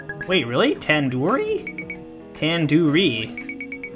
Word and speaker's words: tandoori: Surely you at least recognize tandoori chicken. You're saying it wrong. Wait, really? Tandoori? Tandoori. The do isn't like door. It's like dodo head.